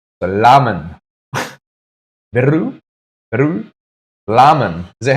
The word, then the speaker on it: ramen: Beru and ramen, but the R is pronounced similar to an L. The lamen.